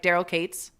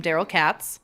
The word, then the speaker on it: Daryl Katz: Now, just a second, I just want to say she is new to Edmonton, so she does pronounce people's names wrong, like Daryl Cates. She calls him Daryl Katz.